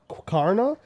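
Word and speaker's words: Qarna: that that was like I think it's pronounced Cara see there's no q u after the Q which throws me off but um q a RNA a that's on page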